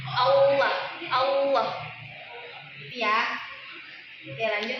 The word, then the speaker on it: Allah: Allah itu ee ketika mengucap lafaz Allah jangan ada yang ee mengucapnya dengan ada suara wnya Allah. Allah. Jangan ada yang baca seperti itu. Bacanya Allah.